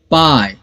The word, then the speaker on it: pie: LI, लाई और ई silent हो गया। पाई, PIE, पाई और टाई, TIE, टाई।